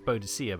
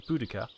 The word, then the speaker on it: Boudica: When I was at school, it was Boadicea, but they now say the pronunciation is Boudica.